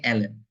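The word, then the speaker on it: ln: এই যে আপনাদের যদি ভাইবা বোর্ডে এই এইটার প্রোনাউন্স কে জিজ্ঞাসা করে আপনারা অবশ্যই জানেন এটারে কি বলা হয় এটারে লন বলা হয় না এটারে বলা হয় এল এন ঠিক আছে এগুলো একটু খেয়াল রাখবেন ছোট ছোট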